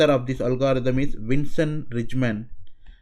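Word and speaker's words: Rijmen: So one of the author of this algorithm is Vincent Rijndael. I am just pronounce it like an English word.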